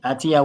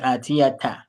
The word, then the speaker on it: آتية: Atia what? That's what we need to learn. أتية Okay, Atia too. Okay. Yeah, mithlahu. Okay. Now it's not Atia too. It's not Atia. This is Atiyata.